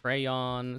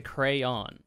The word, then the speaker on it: crayon: last quiz I say crayon so this is these These are weird with two syllables sounds like cray on ah on or with two syllables where the second syllable rhymes with Dawn they both it's the